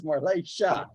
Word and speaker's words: Morlesha: And Morleshadek, it's not Morletiadek. It's Morlesha. The TIA is Shah. Yeah. All right. So anything you see that TIA is pronounced Shah, like a cha almost.